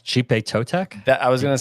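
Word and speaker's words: Xipe Totec: It's I think it's Chipe Totek. That I was going to say. I think the X is actually pronounced as a C because the IP. So Chipe Totek.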